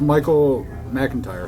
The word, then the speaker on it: Michael McIntyre: Mike Mike Mike and tire how do you pronounce that that's Michael McIntyre McIntyre I'm sorry I kept putting this pronouncements